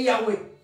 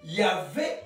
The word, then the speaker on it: Yahweh: L'ancienne prononciation, c'était OUE. L'ancienne. À l'époque de Moïse, c'était OUE. Il ne prononçait pas. Voilà, c'est pourquoi on dit Yahweh. Yahvé, c'est une prononciation plus récente. Parce qu'on dit V. Mais avant, c'était OUE.